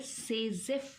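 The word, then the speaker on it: Saytzeff: और वो रूल है सेजेफ रूल। सेजेफ रूल, T साइलेंट है तो हम SAY से और ZEFF सेजेफ रूल पढ़ रहे हैं इसको।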